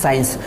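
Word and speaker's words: science: तो यहाँ पे एस के बाद सी आ रहा है, सी साइलेंट है। इसी तरह से फ्रेंड्स, साइंस।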